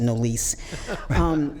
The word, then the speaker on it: Nolise: I'm named after my great-grandmother, and she does pronounce it Nollis Jean. I got a little uppity, and I pronounce it Nolise.